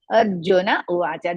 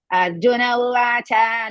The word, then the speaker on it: Arjuna uvacha: Arjuna uvacha. Don't pronounce Arjuna uvacha like that. You have to pronounce Arjuna uvacha because cha is hrisva.